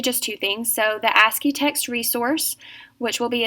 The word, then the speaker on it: ASCII: the other word is asky a c i i is actually an abbreviation but we pronounce it asky for short it is a popular